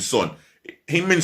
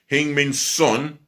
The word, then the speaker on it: Heung-min Son: that's going to want to go than Heung-min Son. Heung-min Son's possibly feeling the same way inside. So time will tell. Oh, speaking of which, South Korea forward Heung-min Son.